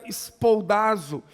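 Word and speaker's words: σπουδάζω: Na língua grega em que o Novo Testamento foi escrito, na sua maior parte, significa, essa expressão, melhor dizendo, ela se pronuncia espoldazo, e significa esforçar-se, ser diligente.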